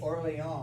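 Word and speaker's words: Orléans: Orly, well, I like to say it Orleans, like a Frenchman. My lord of Orleans and my high lord constable, you talk of horse and armor.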